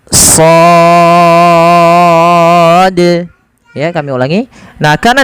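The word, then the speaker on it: ص: seperti ini Shad nah cara membacanya adalah kita memanjangkan Shad ya Ini sepanjang shnya sepanjang en harakat karena di sini ada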